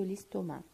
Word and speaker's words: estomac: Donc, on a l'estomac avec C à la fin, maintenant ça se prononce pas.